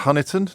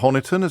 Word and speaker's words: Honiton: I'm told it's pronounced Honiton, not Honiton.